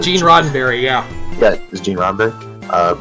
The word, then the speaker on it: Gene Roddenberry: So, Gene Roddenberry is a correct pronunciation. Yeah. It's not Eugene Roddenberry.